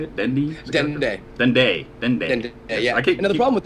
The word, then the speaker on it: Dende: Dendy, is that how you say it? Dendy? Dende.